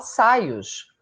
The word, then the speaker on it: Soyuz: Hoje em dia, eu vejo as pessoas chamando a nave espacial de Soyuz. E eu lembro que, à época, a gente aprendeu a falar Saios, que era assim a pronúncia do nome, corretamente, né?